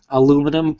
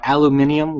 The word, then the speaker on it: aluminium: There's going to be a better video, but it has this kind of brushed aluminum or aluminium, which is the actual correct pronunciation, but aluminium feel to it.